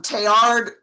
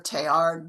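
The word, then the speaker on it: Teilhard: that all of these things are connected um Tayard was a scientist um who loved I mean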